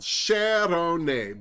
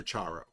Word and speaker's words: Sharone: She pronounces her name as it's spelled, Sharone, but she has answered to the odd Spaniard who calls her Charo.